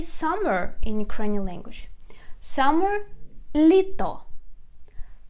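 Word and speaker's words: літо: in ukrainian language summer litto litto litto the stress is on the first syllable litto litto and the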